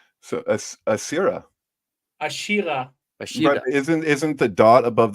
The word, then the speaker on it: Asherah: How would I say Asherah properly? Well, that's a good question. Actually, I don't know. I see that. We have it there. Here, let's get close. I'm looking at where the Dagesh is. Ashira.